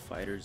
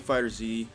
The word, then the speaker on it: FighterZ: and we are back with some more Dragonball fighters Z I know it's pronounced fighters I'm keep saying fighters e fudge you got anyway um so we finally